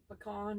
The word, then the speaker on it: pecan: Misha Lee said you can say P 2 ways and con 2 ways.